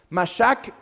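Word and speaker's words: מָשַׁח: o de dónde viene es la palabra hebrea que se pronunciaría como masac mashack quiere decir ungir yo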